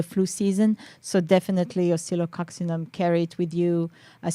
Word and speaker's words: Oscillococcinum: yes so I would say here I know psylococcinum is more uh widely used I pronounce that once again oscillococcinum that's for Cold and Flu yes for flu